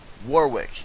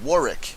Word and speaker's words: Warwick: I was talking about this entire time is pronounced Warwick and I'll tell you why storm killer brought